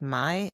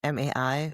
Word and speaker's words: Mai: It's by, I think the name's pronounced Mai, M-A-I, Mai Corland.